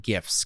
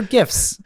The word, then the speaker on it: GIF: And I think what's become even more popular is what I'm going to pronounce it GIFs, because I'm a normal person. They're GIFs. The creator said it's called GIF. Subhuman.